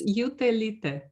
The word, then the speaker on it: Jutelyte: surname please because for me very hard to pronounce it uh it's utelite thank you very much for coming to this interview uh our honored guest was utalita i'm perfect thanks a lot it was a